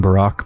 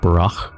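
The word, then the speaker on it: Burakh: our name correctly like I've been saying Barack but it's actually pronounced burro something like that so apparently in the steppe language any KH is pronounced like that so an epidemic bra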